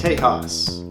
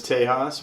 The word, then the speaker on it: Tejas: tejas what is tejas well it's the native american pronunciation for texas it's actually the caddo